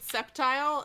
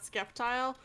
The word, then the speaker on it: Sceptile: absolutely so it begins i totally always pronounced it sceptile not skeptile and you really threw